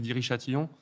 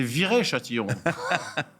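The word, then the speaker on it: Viry-Châtillon: allant du côté de vir Châtillon alpine en de ce feuilleton là tu l'as mal prononcé c'est viré Châtillon alors le mouvement continue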